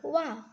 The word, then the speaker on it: one: Here, the pronunciation of O is not like as O, but here it is pronounced as Wa.